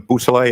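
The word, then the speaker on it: Beausoleil: Could you say that name again and spell it for us? Yes, please? sir. It's Trooper Jason Bousselet.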